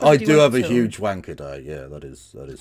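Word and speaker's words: Wankhede: That is literally how it's pronounced. Wanker day.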